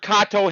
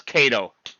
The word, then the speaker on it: Kato: a japanese brand and mr kato himself says that it's freaking pronounced kato but half the model railroading world says cato although now i'm confused